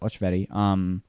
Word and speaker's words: Alsveri: My last name's Alsveri, which is Hungarian. It's pronounced Ochveri.